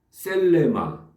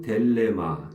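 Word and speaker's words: θέλημα: 네토 형으로 되게하여 주시옵소서 토 셀레마 또는 델레마 있데에 델레마 발음 하는게 거의이 상당수가 델레마 발음합니다에 그래서 델레마 되고 어 셀레마 되고 또 텔레마 하는 사람도 그 있습니다 에 상관이 없는데 일반적으로 많이이 사용하는 것은 델레마 윌 뜻 예 좋은 말이죠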